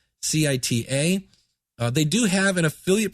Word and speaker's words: vCita: Now, I use a thing called vCita, I believe is how you pronounce it. It's vCita.